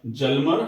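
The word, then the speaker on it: Hjalmar: दी जिसका नाम था जलम सचेत तो एच साइलेंट होता है इसमें और हिटलर का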